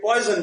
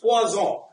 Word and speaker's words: Poisson: So even though many people call it poison, but it's Poisson.